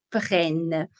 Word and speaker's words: prennent: La pronunciación, o sea, la pronuncia acá al final es más abierta. Il, elle prennent.